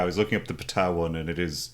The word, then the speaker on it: Ptah: Most Egyptian translation things come through Greek, and you don't pronounce the P. But Ptah is just like direct from Egyptian, so the P is pronounced.